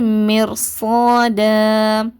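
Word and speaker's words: مرصادا: மாதிரி சவுண்ட் கொடுத்து உச்சரிங்க அடுத்து மிர்சத மிர்சத இங்க பாத்தீங்கன்னா சுக்குன் பெற்ற ராக்கு முன்னாடி என்ன இருக்குது கெஸ்ரா இருக்குதுப்ப இப்ப இந்த ராவை நம்ம என்ன பண்ணுவோம்?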